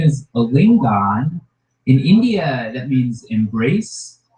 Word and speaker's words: Alingon: Please welcome Alingon, everybody. Alingon. Thank you guys. Oh, thank you guys so much. My name is Alingon.